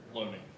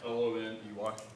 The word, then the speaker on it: Loney: Loney. I'm sorry? Okay. Could you spell it? L-O-N-E-Y.